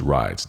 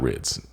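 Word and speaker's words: Wridz: It's pronounced Rides, not Rids.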